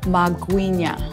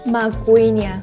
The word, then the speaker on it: magwinya: How to pronounce it in a proper way? Magwinya. Magwinya.